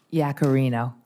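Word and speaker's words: Yaccarino: Linda how do you say your last name Yak Carino uh do you support the earned act on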